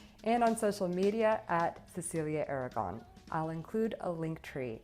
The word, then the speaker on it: Cecilia Aragon: How do you say it in Spanish? So my name is Cecilia Aragon, but you can also call me Cecilia Aragon.